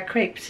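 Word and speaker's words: crêpe: And we're going to go eat our crepes now. And comment below how you like yours. And how do you say them again? He'll say it the correct French way.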